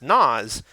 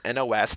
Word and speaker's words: NOS: know we're not but the nitrous system isn't actually pronounced nas it's an acronym for a company that sells nitrous nitrous oxide system nos oh I didn't know that that's cool it's pronounced by reading each letter nos not by making a word out of it car guys that work